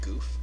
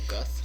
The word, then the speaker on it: Guth: say goof? Is he a Guth. Guth? Guth. Oh, Guth. I did, however, spell his name wrong.